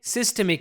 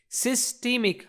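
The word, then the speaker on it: systemic: सिस्टेमिक है। आपको इनमें डिफरेंस पता होना चाहिए। सिस्टमिक हम इसको बोल रहे हैं सिस्टेमिक या सिस्टेमिक। दोनों तरीके से इसको प्रोनाउंस किया जा सकता है।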